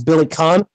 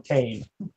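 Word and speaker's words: Billy Kane: Billy Caine's name is Billy Conn no I refuse Billy Conn they're like but it's pronounced like the actor James Caan well then why isn't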